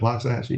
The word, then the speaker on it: Loxahatchee: hours into their trip, they were on the Loxahatchee River. Is that? How you say it? John Darr: Yep. Loxahatchee, yep.